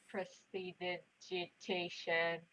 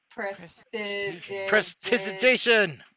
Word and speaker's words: prestidigitation: Okay, I guess I could cast how do you pronounce this? Prestidigitation. Prestidigitation.